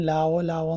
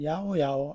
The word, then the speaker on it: llaollao: തുടക്കത്തിൽ ഇത് ഞാൻ ലാവോ ലാവോ എന്നാണ് വായിച്ചതെങ്കിൽ പിന്നീട് ഗൂഗിൾ നോക്കിയപ്പോഴാണ് മനസ്സിലായത്. ഇതിന്റെ ശരിക്കുള്ള ഉച്ചാരണം യാവോ യാവോ എന്നാണ്.